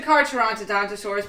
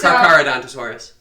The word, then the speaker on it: Carcharodontosaurus: No, it's the Carcharodontosaurus, but that's not how you pronounce that. It's Carcharodontosaurus.